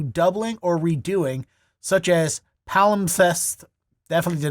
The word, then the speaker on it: palimpsest: that pertain to doubling or redoing, such as palimpsest.